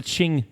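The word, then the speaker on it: Qing: n sorry q q i n or the Ching Dynasty q i n g can I just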